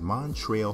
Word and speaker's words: Montrezl: back to the hes Montreal herel yes the Z is silent the Kentucky Wild Cat